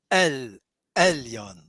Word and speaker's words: Elyon: And it's a stronger, when you pronounce, you see Elohim, it's a kind of but the ayin is stronger than that. Elyon.